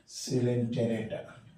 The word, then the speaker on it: Coelenterata: Phylum सिलेंटेरेटा। In fact लिखते हैं हम क्वालेंटेरेटा, ओ साइलेंट है, पढ़ते हैं सिलेंटेरेटा।